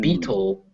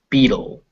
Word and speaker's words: beetle: but remember that it's battle, not battle, battle. And it's not beetle, it's beetle. Beetle. Beetle. So you Beetle. hear how it's a D, it's a dull sound, not a tull sound.